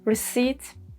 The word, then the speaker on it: receipt: And then 4, there is no pattern for this one, like in receipt and raspberry.